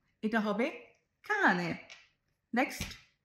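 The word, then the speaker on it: cane: প্রথম, এটা কিভাবে উচ্চারণ করব? চানে, এটা হবে কানে।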